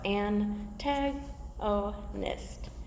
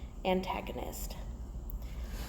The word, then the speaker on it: antagonist: is new to you so an tag oh nist antagonist so an antagonist is